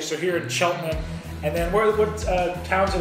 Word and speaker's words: Cheltenham: So when I look at it, I say Cheltenham, but it's Cheltenham, the local pronunciation. So here in Cheltenham.